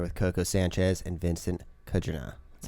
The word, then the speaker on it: Kudrna: Kudrna? Or Kudrna. It's like Kudrna, right? Yeah, just a lot of consonants in a row, so you look at it and you're like, whoa.